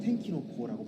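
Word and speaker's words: 天気の子: 또한 날씨의 아이는 텐키노코라고 발음되는데, 이는 날벼락, 하늘의 분노라는 단어와 동일한 발음을 가지고 있기도 합니다.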